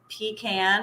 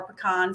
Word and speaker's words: pecan: My grandfather founded our company as a roadside pecan or pecan stand, however you want to say it.